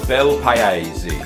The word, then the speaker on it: Bel Paese: It's pronounced Bel Paese.